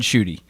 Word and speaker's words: Schutte: name yeah no yeah so my name is uh schutte okay i would have got it wrong i was going with i i've gotten